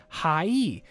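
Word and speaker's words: はい: this word sounds like hi or hi. However, remember how sounds like e? The word hi is actually pronounced as hi-e. But since Japanese is a language spoken at a rapid pace, the syllables tend to merge.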